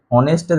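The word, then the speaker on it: honest: তো অনেস্টটা দেখো আমরা যখন এই অনেস্টটা এইচ দিয়ে শুরু হচ্ছে কিন্তু আমরা অনেস্টটা উচ্চারণ কিভাবে করি অনেস্ট করি মানে এইচটা সাইলেন্ট থাকে এইটা হয় না তাহলে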